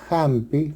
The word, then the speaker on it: hampi: En inglés y en quechua del Perú sí tienen sonido como una J suave, aspirada, como en hello, hola en inglés, suena hello. Hollywood suena Hollywood o hampi suena hampi, medicina en quechua.